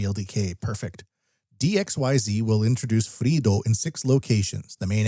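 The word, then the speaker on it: FreeiD: d free ID but it's pronounced Fredo next one dxyz of the bigaro group introduces Fredo facial recognition to apartments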